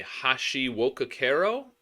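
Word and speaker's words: Hashiwokakero: All right, next up is a Hashi wokakero, I think is the way you pronounce that.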